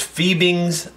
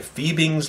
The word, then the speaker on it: Fiebing's: so you don't miss it this time it's fiebing's leather die fiebing's leather die nights how I pronounced it fi e bi NGS leather die